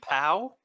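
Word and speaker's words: Pau: Someone's named Pow. I'll spell it for you. P-A-U.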